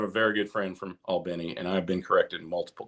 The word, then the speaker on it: Albany: Just Albany. Albany. I always get it wrong. I love that. Everybody but people from Albany say right. But I've been corrected. I have a very good friend from Albany, and I've been corrected multiple times.